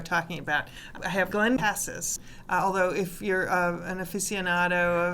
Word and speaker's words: Cassis: city of Cassis um spelled the same way but pronounced differently which is what we do we americanize everything and I'll have Glenn